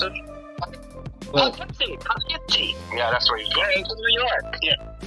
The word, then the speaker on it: Poughkeepsie: He was from, Pluskipy or Plukiski. Is that Pluskipy? Is that how you pronounce it? Poughkeepsie.